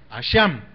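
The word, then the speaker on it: אשם: de la raíz asham es a s h a acento en la a m asham que significa ser culpable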